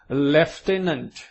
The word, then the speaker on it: lieutenant: A tall lieutenant, પહેલા તો સમજી લેજો શબ્દ કે આને લ્યુટેનન્ટ કેવું વાંચવાનું નથી, ભલે સ્પેલિંગ એના જેવો છે, but it is pronounced as lieutenant.